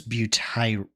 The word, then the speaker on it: butyro: I guess it's butire is how it's pronounced in Latin.